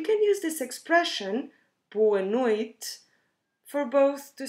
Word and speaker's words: noite: in either ways boa noite again we can drop that last e at the end of noid or pronounce it in a very soft way or we say boa